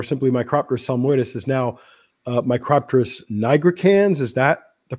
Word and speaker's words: Micropterus nigricans: Yeah, and that the name of what we used to call the northern subspecies, or simply Micropterus salmoides, is now Micropterus nigricans. Is that the pronunciation?